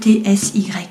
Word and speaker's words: Etsy: on dit en fait je sais pas comment on prononce c'est Etsy voilà et vous voyez